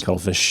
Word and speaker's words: CTLFSH: But it's spelled like CTLFSH. No vowels. Cuttlefish.